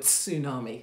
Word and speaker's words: tsunami: tsunami of love also i like saying the word tsunami because you can pronounce the t i don't if you